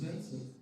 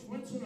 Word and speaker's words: Swinson: After mispronouncing his last name as Zensen for 18 seasons, with a smile on his face last year, he asked, "When will you start pronouncing my last name?" Well, Coach Swinson, on behalf of our